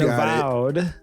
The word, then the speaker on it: Avowed: And Avowed, that's how you say it, and Avowed perpetuates an annoying trend in pre-ordering games.